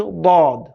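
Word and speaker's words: ضاد: সেখান থেকে একটি হরফ উচ্চারণ হবে। সেটি হচ্ছে দদ।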